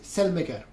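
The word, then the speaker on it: Saelemaekers: tutti i modi, ma non col suo vero nome, che dovrebbe pronunciarsi Selmeker.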